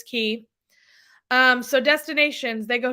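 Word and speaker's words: Castaway Cay: Island Castaway key and yes it's spelled like Castaway K but it's key um so destinations they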